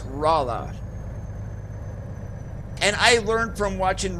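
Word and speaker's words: Rolla: Hey, I was 100% wrong the first time I said I said Rola, Missouri. Nope, it's Rala.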